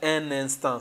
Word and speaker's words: un instant: So we have to connect. If we separate, it will not sound French. So we have this un, and then un instant.